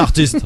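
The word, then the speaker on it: Heartiste: C'est marrant, en plus je viens juste de réaliser que tu prononces pas correctement mon nom de plume, Christophe. Qu'est-ce qu'il y a? C'est artiste.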